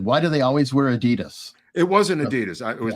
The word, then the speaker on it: Adidas: Apparently, it's Adidas or something. What? Yeah, that it's the Das brothers, Adi Das, or so.